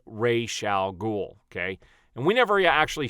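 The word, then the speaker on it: Ra's al Ghul: on to that but the proper way to say that character's name is Ray shall ghoul okay and whenever you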